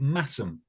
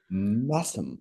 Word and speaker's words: Masham: Which is spelled Mashem, but is pronounced Massum. Massum. Correct. Masham.